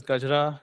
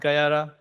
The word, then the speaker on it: Gajra: That's right, it's pronounced as Gajra, not like how Germans like to pronounce it. It's not Gayara.